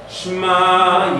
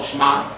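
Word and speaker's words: שְׁמַע: I know it sounds like one syllable, Shema, but it's really Shema.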